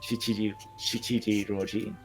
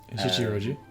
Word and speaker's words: Shichiroji: Then there's my pronunciation is going to be horrible. Shichiji Roji. Shichiroji, yeah.